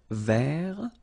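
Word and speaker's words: vert: rou remember rou so masculine form don't pronounce the final T ver feminine form ver so listen carefully I don't say t but it's ver ver Okay so as usual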